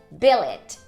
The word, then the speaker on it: billet: E o poema diz que não rima, porque na verdade a pronúncia dessa primeira palavra é billet. Billet.